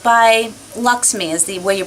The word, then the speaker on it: LXMI: It's by Luxme is the way you pronounce it. It's LXMI. It's pronounced Luxme, which I discovered.